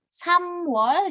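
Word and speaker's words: 삼월: Samwol dan Sawol. Gitu. Karena pelafalannya mirip ya. Bedanya Samwol dia ada miemnya, Sawol tidak ada.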